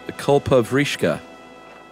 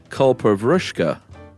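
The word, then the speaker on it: Kalpavriksha: When you guys talked about the culpa vrishka, first of all, it's not pronounced that way. It is pronounced culpa vrushka.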